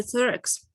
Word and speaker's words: thorax: The thorax. Like yeah. Thorax. Yeah. The thorax, like the third one, the thorax, yeah. But the classic TH, right?